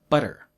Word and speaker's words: butter: the pod okay now when t is between two vowels americans change it to the sound like japanese regul the change doesn't happen if the next sound is stressed though so we'll say butter butter and water water but we don't say fatigue no fatigue the ting is strong so we keep the tea when the next word